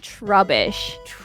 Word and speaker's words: Trubbish: bag Pokemon and his his name is trubbish like rubbish trash but yeah oh that too yeah yeah so this is troubish and it evolves into